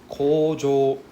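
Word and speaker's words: kōjō: Right, so it's a double long O sound. Right, O sound. O. Right, kojo. So that means take your time to pronounce this. Don't be too fast. Don't like kojo. Because kojo means deduction. Kojo means factory. Right? Kojo means deduction. So we don't want to say kojo. We want to say kojo. So take your time to pronounce it. Drag it out. Okay, so how do we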